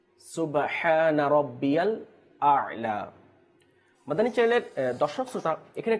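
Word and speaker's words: الأعلى: প্রথমটা হচ্ছে হামজা এবং দ্বিতীয়টা হচ্ছে আইন। প্রথমটা হচ্ছে কি হামজা এবং দ্বিতীয়টা হচ্ছে আইন। তো সেই জন্য আমাদের উচ্চারণ করতে হবে যে সুবহানা রাব্বিয়াল আ'লা, সুবহানা রাব্বিয়াল আ'লা। আ হামজা, আইন জবর আ।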